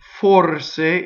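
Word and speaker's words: forse: so the word perhaps for sa is a closed o the are roles because it touches the s in the e would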